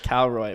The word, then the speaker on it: Károlyi: that's funny really that my real name is Tao Roy but it's spelled károlyi so I made a